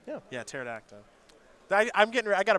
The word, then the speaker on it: pterodactyl: they do have you never heard of a pterodactyl that's not how that's pronounced at all is that how it's pronounced no yeah that's how it's spelled though the the peace silent yeah yeah pterodactyl i i'm getting i got a brush up